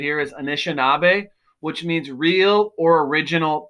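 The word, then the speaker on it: Anishinaabe: longest the name they have for themselves is pronounced right here is anishinabe which means real or original people they're also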